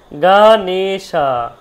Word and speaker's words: গণেশ: তখনই কিন্তু আপনার কাছে পুরো পরিষ্কার হয়ে গেল গণেশা হয়ে গেল গণশা হয়ে গেল উচ্চারণ তার বিদ্যা এখানে ভি হয়ে গেছে দেখুন